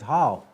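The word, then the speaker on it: hau: It's spelled H-O, and how I use it myself personally is how. It's H-A-U, it's how.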